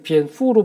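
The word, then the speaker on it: 蝙蝠: 또 중국에서의 길상의 표현인 비엔푸, 이제 박쥐를 비엔푸로 발음하는데 거기서의 푸의 발음이 복의 푸와 발음이 같다고 해서 중국에서는 이 박쥐가 복을 상징합니다.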